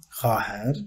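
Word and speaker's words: خواهر: Khaher kız kardeş. Khavaher yazılıyor. Khaher okunuyor. Buna dikkat edin.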